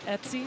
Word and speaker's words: Etsy: They're even selling T-shirts on Etsy. Is that how you say it? ETSY? Etsy, yep.